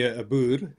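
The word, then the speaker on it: Boer: well the the word bur as a racial slur towards Africanis. Obviously, we don't care. So, so I mean, if you call me Abur, that's how you pronounce it.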